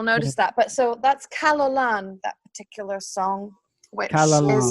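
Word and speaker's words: Calon Lân: n l a n how do you say that Kina oh can you spell that again c a l o n i a an I believe oh kalalan so that kalalan that is actually a Welsh because my my mother's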